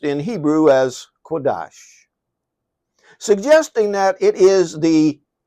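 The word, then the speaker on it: קדוש: he gave us an example of being holy pronounced in Hebrew as quades suggesting that it is the treatment of the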